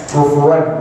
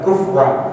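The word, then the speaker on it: كُفُوًا: Ya, kufuwan bukan kufwan. Saya ingatkan lagi. Ya, kadang-kadang bacanya cepat jadi kufwan. Sebenarnya adalah kufuwan.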